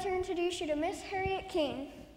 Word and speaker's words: Harriet: Agents, I'd like to introduce you to Miss Harriet King. Harriet rhymes with parrot. I'm sorry. It's pronounced parrot. The I is silent.